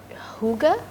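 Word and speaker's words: hygge: that you have I'm not sure that I pronounce this correctly is it Huga yeah perfect you could be Danish really Huga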